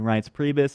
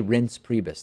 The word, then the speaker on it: Reince Priebus: like Steve Bannon and Reince Priebus, it's not a good sign. You say Reince, right? I always get that wrong. I say Reince Priebus, like I want to rinse my hands of the insanity that is Reince Priebus.